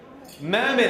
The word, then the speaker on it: Mehmet: Mehmet. It rhymes with Emmett.